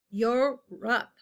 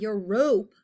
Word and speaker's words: Europe: two syllables EUR EUR it is not a long o sound this o is very funny your rup it's not your rope that would be weird